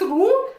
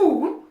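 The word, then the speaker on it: Lowe: I don't know whether it is it is pronounced Ru but it is L O W E.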